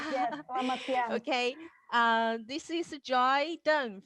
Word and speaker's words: Selamat siang: Selamat siang. Right, Lily? I pronounced it right. Correct. Yes. Selamat siang.